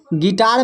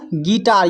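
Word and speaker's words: guitar: गिटार में जो है यू के बाद वोवेल है। यू तो एक वोवेल है ही। इसके बाद भी आई है। तो आई भी एक वोवेल है। तो इसका जो उच्चारण हो रहा है गिटार। यू साइलेंट है।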